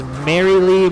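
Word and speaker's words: Marylee: follow that one is merrily merrily merrily uh spelled like names uh m-a-r-y-l-e-e three times merrily merrily merrily tune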